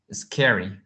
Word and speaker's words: scary: okay thank you uh you have to pronounce this adjective like scary not as calories in okay it's scary okay okay do you